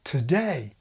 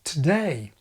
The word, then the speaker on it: today: plus a prefix any dictionary will tell you that the prefix contains schwa today it's a weak syllable so weak in fact that the schwa can even disappear today well to do is